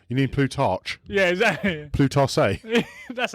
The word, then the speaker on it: Plutarch: And that was said by Plutarch.